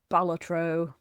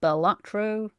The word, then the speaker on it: Balatro: good time oh God balatro and I have learned that you are supposed to pronounce it balatro not batro balatro not batro I